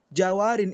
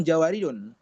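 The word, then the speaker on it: جوارٍ: Jawarin itu aslinya adalah jawariu. Jawari ya, bukan jawariun. Karena kalau antum katakan jawariun enggak bisa karena dia mamn minasarf. Mamn minasarf itu bacanya jawa jawariyu.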